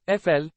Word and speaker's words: Eiffel: France you should know La Tour Eiffel pronounced FL it was constructed between